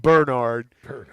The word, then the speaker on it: Bernard: They always put the emphasis on that first syllable. They call him Bernard.